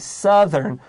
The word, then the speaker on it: southern: and be careful because we know the word south s-o-u-t-h is ow but here we have southern oh you fatwa you